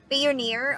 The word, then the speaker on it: Payoneer: I thought on Payoneer or how do you pronounce that are you near Payoneer Payoneer of course Payoneer okay finally you Coco next motion you straight